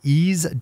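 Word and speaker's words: Eaze: with a visit to ease calm which again is spelled ei ze that's easy calm all right top of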